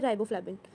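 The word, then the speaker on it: riboflavin: Ribo ओ पे रुक के फिर फ्लाविन आता है, राइबोफ्लाविन, राइबोफ्लाविन।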